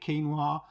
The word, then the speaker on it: quinoa: and uh quinoa that's how you say it quinoa pea protein flaxseed coconut milk powder sultanas sunflower